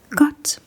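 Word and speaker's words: godt: And when asked this question, you might want to reply got tuck got tuck.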